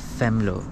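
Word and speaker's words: Venlo: m l o but it is uh uh pronounced as femo with the f um so this is uh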